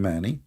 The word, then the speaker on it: Mani: And if you want, you can go and do a little search about this man, Mani. This is how you pronounce his name.